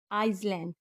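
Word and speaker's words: island: जी ई S changes S का आखिरी rule जब एस के बाद एल आए तो वहां पे एस साइलेंट होता है जैसे आई एस एल ए एन डी आइसलैंड ए आई एस एल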